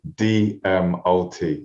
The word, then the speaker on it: DMOT: for having me so my surname is actually pronounced d m o t exactly how it's spelled dmlt amazing and that's